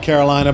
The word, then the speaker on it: Carolina: Carolina, yeah. It's spelled like Carolina, but it's pronounced Carolina.